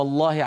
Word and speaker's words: الله: انهم ان ذكروا اسم الله عز وجل فان كان مسبوقا بفتحه او بضمه نطق اللام مفخمه وبالتالي الالف التي بعد